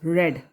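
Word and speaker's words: read: तो a book is रेड, हालांकि spelling same होती है रीड की, रीड रेड रेड है ना, लेकिन यहाँ पर रेड पढ़ा जाएगा, third form of the verb.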